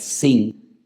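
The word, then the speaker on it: שׂ: que tiene doble pronunciación, porque si arriba te encuentras un punto a la derecha es shin, y si te encuentras arriba un punto a la izquierda es sin, pues ahí encontramos a Sara,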